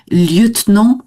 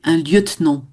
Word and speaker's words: lieutenant: Liutenant c'est un e mué lieutenant.